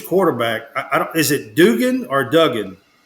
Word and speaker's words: Duggan: I don't, is it Dugan or Duggan? Duggan.